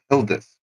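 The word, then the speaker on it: Gildas: time in the monastery, his name was Hildis, but it's spelled G I L D- A S and he was by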